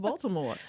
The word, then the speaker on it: Baltimore: And what's So- crazy, I say Baltimore, and they be like, "Are you from here?" Yeah. I'm like, yeah, because it's pronounced Baltimore. I You gotta know, but- pronounce the T.